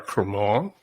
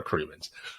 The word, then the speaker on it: Cremeans: I call her Cara Cremant because I do have a friend in France with the same last name and they pronounce it Cremant. So you will eternally correct me for doing that as a default, but Cara Cremeans.